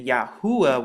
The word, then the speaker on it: Yahuah: course precedes the modern, but it's the pronunciation, it's the same yod hey oo hey and this is exactly what you get and when you put it together cuz remember Hebrew goes from right to left, you once again get the pronunciation Yahua once again and it's the same